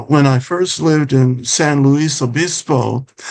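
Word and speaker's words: San Luis Obispo: And I I noticed that in uh when I first lived in San Louis Abyispo, that's the Spanish pronunciation for St. Louis the Bishop who was a a well-known bishop in Spain during the 1700s.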